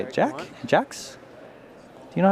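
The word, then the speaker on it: Jacques: Jax? Do you know how to pronounce that? Jakes.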